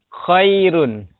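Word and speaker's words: خير: Khairun. Tapi berhentinya khair. Ya. Khair. Tapi dibaca tetap dibacanya tipis.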